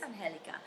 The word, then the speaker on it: Angelica: people can't pronounce, On Angelica Uh, or Angelica. And Angelica. yeah, they're like, is it Angelica or Angelica? It's Angelica.